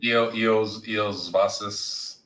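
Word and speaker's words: Iosivas: A guy you might want to pick up is that Losivas. How do you say his name? Eos Vasas.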